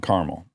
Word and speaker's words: caramel: Um, caramel. Caramel. Caramel. Okay. So, two syllables.